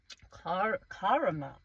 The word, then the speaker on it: caramel: Car caramel. Caramel. I like how Americans say caramel caramel or or they kind of say car like a car caramel car caramel.